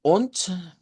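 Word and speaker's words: und: Vamos a usarla mucho y pero la pronunciamos con letra T. Vea, se cambia la D por T y decimos on.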